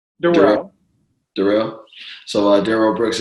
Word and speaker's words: Durryle: podcasts um wait you're so uh so it's pronounced Darrell Darrell Darrell so uh Darryl Brooks is on the